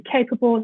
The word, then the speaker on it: capable: You could look at the bull endings in capable and preventable. You could draw attention to that silent letter E. We don't pronounce that one, but we insert a schwa between the B and the L.